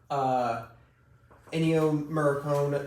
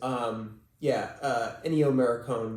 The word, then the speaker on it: Ennio Morricone: Ennio Morricone, if I am pronouncing that correct, who had done a lot